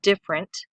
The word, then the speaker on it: different: I am for example when we say different we often leave out this little syllable right here different different our tongue moves quickly from diff over that ER into en T so when you're studying